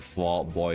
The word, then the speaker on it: Fall Out Boy: Full Out Boy. Full Out Boy. Fall Out Boy. Fall Out Boy. That's how they say it in like Full Metal Alchemist. But Fall Out Boy.